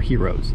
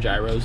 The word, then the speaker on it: gyros: Or heroes?